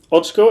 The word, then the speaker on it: Oczko: problems pronouncing my surname my family comes from poland ochko is the polish word for small i occur stereo stands